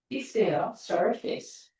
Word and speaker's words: surface: 다음에 얼굴이라고 읽는데 발음은 sur예요. surface.